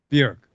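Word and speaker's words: Björk: Say it with me. Bjork. There you go. Which is essentially the same way you've been saying it, but without an O in it. Yeah. Like, just think jerk.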